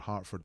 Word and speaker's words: Hertford: for Kinetico and there's a place in England called Hartford but you spell spell it slightly differently which is Hertford hey thanks missing-person Club